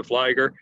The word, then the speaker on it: Fligor: it a dozen times nissa rhymes with lisa flygo rhymes with tiger it's nisa flyger uh for those of